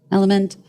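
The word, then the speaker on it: LMNT: El element element is spelled lement but it's pronounced element Alfie stop you don't need electrolytes you know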